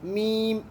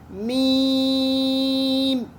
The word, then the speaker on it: میم: اب میم، میم کچھ لوگ ایسے پڑھتے ہیں جلد بازی میں، میم، ایسے نہیں، میم، کیونکہ یہ وہ ورڈ ہے جو لمبا ہوتا ہے، ٹھیک ہے.